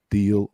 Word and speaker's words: deal: And Very EA here is pronounced like an E in Spanish.